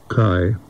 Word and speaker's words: Kai: and his name was Kai. That's the Danish pronunciation of K-A-I. And but in America and going to school and everything else, he was K-A-I became K. He was K Winding.